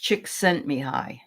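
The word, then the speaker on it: Csikszentmihalyi: so I'll put it in and um it's pronounced chick sent me high so oh that's a name okay that sounds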